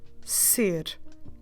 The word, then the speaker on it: ser: most permanent to be, which is the verb ser. Ser. I will spell it to you, S-E-R in Portuguese, S-E-R, ser.